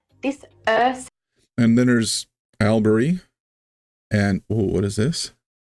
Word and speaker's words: Albury: y albrey what burbury Albury so we use elen which is taking out sounds or syllables to connect them together rather than allb all Bri all Bri auy last one m willar